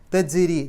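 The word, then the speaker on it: تجري: ജീമിന് സുക്കൂന് വന്നു അപ്പൊ ജ് എന്നുള്ളത് എടുത്തു പറയണം തജ്രി ജ് എന്നുള്ളത് വെളിവായി കേൾക്കണം രി റാഇന് കസർ ആയതുകൊണ്ട് രി എന്നുള്ള ഉച്ചാരണം കൊടുക്കുക തജ്രി മിൻ തഹ്തിഹ താന്റെ മുമ്പ്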